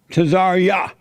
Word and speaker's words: Tazaryach: Tazaryach.